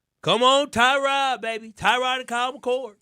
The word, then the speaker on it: Tyrod: right Trod Taylor Tyrod I think it's Trod it's Tyrod Tyrod Taylor